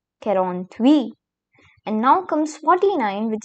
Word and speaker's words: quarante-huit: quarante-six And here we have 47, which is called as quarante-sept quarante-sept Then comes 48, which is pronounced as quarante-huit. quarante-huit And now comes 49, which is called as